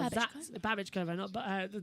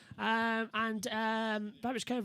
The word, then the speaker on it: Babichkova: Jesus has pointed out that her name is Babichkova as well. Babichkova, that's how you pronounce it. So thanks for the correction on the pronunciation as well as they come through. Babichkova is down in 17th position then.